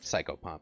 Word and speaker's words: psychopomp: it's a uh it's a psychopomp or sicko pomp I don't know how it's pronounced it's a nasoy no soy here I'll just I'll paste it into chat cycle pump is correct psychopomp okay one of those